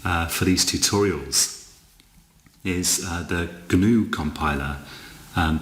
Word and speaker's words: GNU: these tutorials is the gnu compiler and the g is actually pronounced in gnu i believe um it's some sort